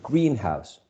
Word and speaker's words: greenhouse: herbs, plants are grown, I have to stress the first element. So greenhouse, okay? So in general, compound nouns are stressed on the first element and not the second one.